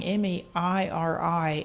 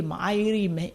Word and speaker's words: Mairi: It's a silent I. It's pronounced the exact same way. It's Gaelic for Mary. But when I came over here, nobody could pronounce it. I get all these strange Mairi.